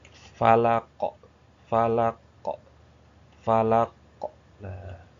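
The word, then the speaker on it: فلق: Kalau ini kita bacanya kolkolah. Dikolkolahkan kalau berhenti, huruf terakhirnya disukunkan jadi kolkolah. Falako, falako, falako. Nah, falako.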